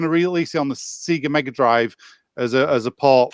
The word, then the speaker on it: Sega: i never knew that you pronounced it seeger you don't it's sega he pronounced it see